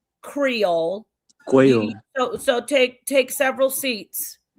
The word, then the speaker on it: Creole: It's Creole, not Crayola.